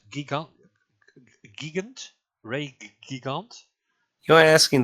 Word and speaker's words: Gigant: Ray So- Giant. No, Ray. How do you? It's not giant, but gigant.